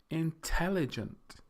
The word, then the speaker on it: intelligent: don't say intelligent intelligent it's the second syllable the tell that is pronounced or stressed more strongly so we say intelligent intelligent so in that